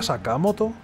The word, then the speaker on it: Sakamoto: pare tan despreocupado sakamoto sakamoto se pronuncia sakamoto es que cuando lo ves sacamoto Qué diferencia de cuando